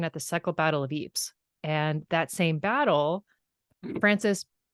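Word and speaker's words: Ypres: like wait a minute battle of Eeps and it's Eeps is spelled y p s so of course you know nobody spells it like they say it um thanks France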